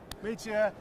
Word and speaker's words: Mitja: Mitja is the head of design at Lamborghini Centro Stile. Did I pronounce that correctly? Yes, Mitja?